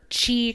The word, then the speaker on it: Qi: wireless chargers that are Qi compatible. Qi is spelled QI, which is just completely breaks my brain.